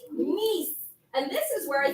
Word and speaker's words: Nice: Yes, and in French we pronounce it a little differently. Nice.